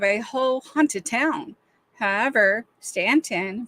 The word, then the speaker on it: Staunton: However, Staunton, Virginia, pronounced Stanton, not ton, is such a town.